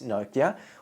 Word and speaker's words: Nokia: And one of my clients, Nokia, or Nokia, depending how you want to pronounce them, took asking for help to a very intimate space.